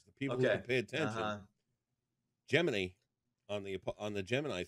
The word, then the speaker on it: Gemini: from the boys the people who pay attention geminy on the on the Gemini flights gemin FL